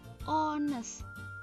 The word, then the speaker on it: honest: Contoh di sini, tulisannya honest ya, tapi dibacanya adalah honest ya.